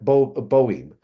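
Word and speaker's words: Boehme: But after Joachim, we see the 17th century German Kabbaler Jacob Boehm, or Burma. I've heard it pronounced both ways.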